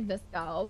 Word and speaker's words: VSCO: It's actually Visco, but no, like, it's VSCO. Visco. It's VSCO. But pronounced Visco.